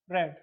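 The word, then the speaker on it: read: form का प्रयोग करेंगे रीड्स का क्या हो जाएगा रेड ठीक है रीड का रीड ही रहता है लेकिन इसको सेकंड या थर्ड फॉर्म में रेड पढ़ेंगे ठीक है स्पेलिंग फर्स्ट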